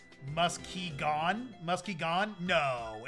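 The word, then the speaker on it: Muskegon: Also, as a past hooer now, Michigander, Muskigan is pronounced musky gone.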